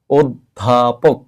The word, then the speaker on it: অধ্যাপক: এর মত উচ্চারণ হয় তাহলে এই অ টাকে উচ্চারণ করতে হবে ও আমরা উচ্চারণ করব অধ্যাপক কি উচ্চারণ করব অধ্যাপক